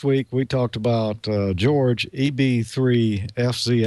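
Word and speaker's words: Jorg: George like mine except it's spelled j o r g but it's pronounced George in English and his last name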